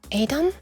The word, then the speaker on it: Edam: Which we pronounce as Edam, but I guess Dutchly pronounced would be pronounced Edam.